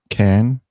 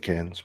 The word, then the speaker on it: Cairns: I was mispronouncing Cannes. Like the one in France, maybe? Cannes? No, but apparently you don't pronounce the R. It's been a few years in Australia. We used to call it Cairns, but okay.